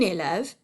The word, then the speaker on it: élève: you what, you guys, everybody pronounces this word elves. These are not elves, they're children, they're students. So we say une élève, and for a guy, un élève. Élève is 2 syllables. Elves is 1 syllable.